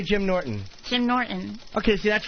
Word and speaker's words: Norton: Jim Norton. Okay, see, that's right. You have like the sound in Norton. You don't hard the T.